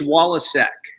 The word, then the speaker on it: Waliczek: So it's Waliczek.